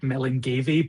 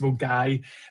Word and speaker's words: Milngavie: Uh Deborah's so Mulgai store, it looks like Milngavie, but it's um pronounced Mulgai.